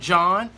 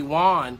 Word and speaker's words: Jawn: She writes back, "Don't be a coward, John. First of all, I'm so excited that she's learned how to say my name because she was calling me Juan for a long period of time.